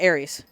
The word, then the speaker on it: Aerith: I'm like oh you mean arias okay yeah Ares no no it's Aerith know it's arias it's Ares it's always gonna